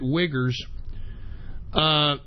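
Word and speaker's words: Uighur: minority in China the wiggers I'm not even kidding it is spelled UI G H you are and believe it or not that's how you pronounce it wiggers but they are putting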